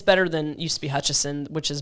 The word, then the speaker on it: Hutchison: Is there no N? No, there's no additional N in there.